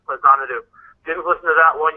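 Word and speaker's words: Faxanadu: Yes, that's pronounced Fazanadu.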